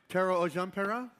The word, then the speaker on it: Tero Ojanperä: I want to pronounce it right. Tero Ojanperä? Is that close? Pretty good, yeah.